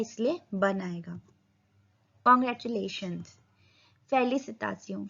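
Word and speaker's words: félicitations: फेलिसिटासियों. फेलिसिटासियों. फेलिसिटासियों. S silent.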